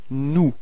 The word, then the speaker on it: nous: Alright, so keep in mind that final S is not pronounced. Alright, so you get this nous.